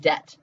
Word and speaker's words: debt: How do you spell the word debt? Like, I have student loan debt, which I do. Debt. D-E-B-T, right? But we don't pronounce the B.